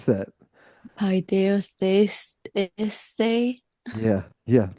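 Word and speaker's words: παιδευθείς: Not at not every sixth Yeah, how do you pronounce that? paideustheis Yeah. Yeah, paideustheis Yeah.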